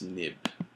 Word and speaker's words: xib: viewcontroller.m and the third viewcontroller xib which is pronounced nib so what you're going to do is you're